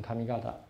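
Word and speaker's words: 上方: 啊，叫 kamigata，上方念成 kamigata 啊。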